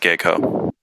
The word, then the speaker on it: GEICO: because you know guy geiko or geico whatever that one sounds better it's pronounced gecko but you you you just like you just like the little lizard mascot admit it that's all